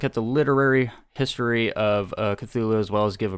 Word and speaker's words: Cthulhu: answer is really right you can say it however you want but uh since cthulhu is the most common pronunciation that's what we're